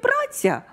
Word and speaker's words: праця: От, наприклад, у слові «праця» у нас наголос падає на «а».